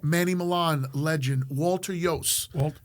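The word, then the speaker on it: Iooss: Walter Yost. And it's pronounced Yost. Yost. Some people get it wrong.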